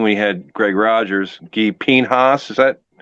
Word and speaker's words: Pinhas: Guy Pinhas, is that how you say it? Pinhas?